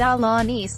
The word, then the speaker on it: Alaniz: share high leverage work Rueben dolana's pronounced outlaw nice and sometimes referred to as